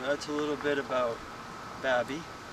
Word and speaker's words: Baby: you win it said it says like baby it's not pronounced that way some people want to call it baby but it's and here's